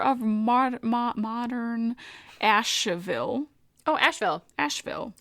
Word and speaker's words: Asheville: ma modern asheville oh asheville asheville why does it have an e in there i don't know it's just the name of the town dumb no it's silent e i love it english